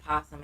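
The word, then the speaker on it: opossum: don't say o possum we just say posum and it got a o in the front of it because o possum sounds stupid yeah I think though I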